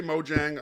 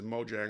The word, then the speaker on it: Mojang: country or company as mojang or moyang they're in scandinavia mo yang would be uh they would pronounce the j in most germanic languages and for that matter most latin languages you know the stereotype